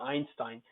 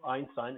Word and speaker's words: Einstein: Then there are words from German like height, Height, height, and then Einstein. So the EI, when it's pronounced like I, you can be certain that they are coming from German. For example, Einstein, it's a proper name.